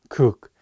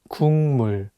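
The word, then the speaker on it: 국: Korean word for soup the consonant K is for G sound in English so you can read it as cook but it's paired with the nasal sound mum so it changes the pronunciation from a g sound to an NG sound and you need to read it as Kung just remember that if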